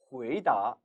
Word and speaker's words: 回答: 回答, 回答. 반면에 答应, 答应 이처럼 분명 같은 글자임에도 성조가 바뀌고 있음을 알 수 있습니다. 回答, 答, 이성으로 발음이 될 때는 어떠한 질문에 대해서 대답하다는 뜻을 지녀요.